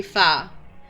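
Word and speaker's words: pho: Um like particularly if you like ramen they do a they do far which is um like it's pronounced far but it it it's spelled like fo so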